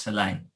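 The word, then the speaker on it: Saleh: game is over it's soleil not so isn't it the jets coach i'm pretty sure i'm 99 sure it's pronounced soleil good job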